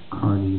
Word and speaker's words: Kearney: My name is Kearney. That's how my family pronounces it. Kearney.